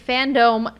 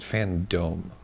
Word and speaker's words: Fandome: My question is, why is it Fandome? I don't Fandom? know. Like Kingdom? Yeah, No, it's spelled dome, like D-O-M-E. like in a dome.